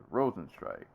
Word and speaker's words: Rozenstruik: Rosen strike I'm so confused because they pronounce his name Rosen struck before like in his previous fights and now his Rosen strike yeah yeah felt like